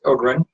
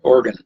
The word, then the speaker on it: Ogren: and I'm Ogren, pronounced Ogren. When I was talking to the woman at the University of Miami, she kept wanting to call me Oregon. We'll mispronounce her name everywhere in the world except in Scandinavia and here in the Midwest, because the name is Swedish, but it's a long O, so and it's a G right after that.